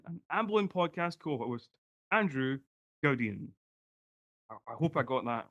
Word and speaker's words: Gaudion: it's got French origins, so I've very much anglicized it to Gaudion, but if I really wanted to go properly posh with it, I could go it's Andrew Gaudion.